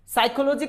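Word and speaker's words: psychology: साइकोलॉजी की spelling P से silent होती है, सब जानते हैं, लेकिन हम P को साइलेंट रखते हैं। क्यों रखते हैं? क्योंकि P के बाद में S आता है।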